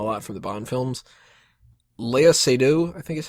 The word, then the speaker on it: Léa Seydoux: Léa Seydoux, I think is how you pronounce her name, is one of the villains in this.